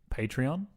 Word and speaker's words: Patreon: We have recently set up, I believe it's pronounced Patreon.